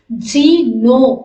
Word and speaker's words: GNU: இத வந்து நார்மலா எப்படி நம்ம ப்ரொனவுன்ஸ் பண்ணலாம் அப்படின்னு சொல்லி பாத்தீங்கன்னா ஜீனோ அப்படின்னு சொல்லி நம்ம ப்ரொனவுன்ஸ் பண்ண முடியும்.